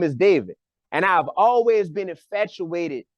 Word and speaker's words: David: You got to say David. David. Right. Just like how we say baby. You know what I mean? You got to say David. So my real name is David.